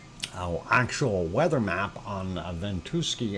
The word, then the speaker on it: Ventusky: actual weather map on ventuski or ventusky uh however you wish to say it i do believe they pronounce it bento sky and that is what